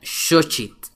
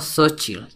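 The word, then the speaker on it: xochitl: y popocatepetl se pronuncia shit aunque se escribe con x se pronuncia shit y no sochil otro ejemplo más es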